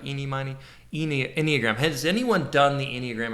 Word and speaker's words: enneagram: a mammogram it's an enneagram okay um and it starts with e e neogram so i think like eeny sort of like eenie money enneagram has anyone done the